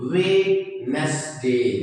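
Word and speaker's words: Wednesday: तो जब हम डी को हटा देंगे तो दिस विल बी वेडनेसडे।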